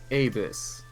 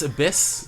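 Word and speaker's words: ABIS: Carlo boss she runs Avis things I think it's abyss they pronounce it i yeah sure she runs abyss that's intentional a Special Branch of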